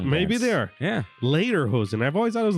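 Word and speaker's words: Lederhosen: have to correct you pronounced uh later hosen leader hosen and it's supposed to sound like later hosen instead of saying leather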